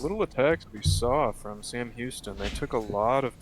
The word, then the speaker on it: Sam Houston: I think it's San. That makes sense in Texas. I'm gonna Google this. I apologize if we've been saying your school's name wrong, Sam Houston. It is Sam Houston. Sam not Houston? Sam Houston. N or M, sorry. Sam.